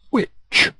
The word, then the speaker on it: which: two green three yellow which the H in which is silent which new old or